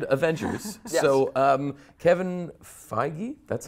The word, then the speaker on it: Feige: So, Kevin Feige, that's how you pronounce it, so, right? yeah. Feige. Feige.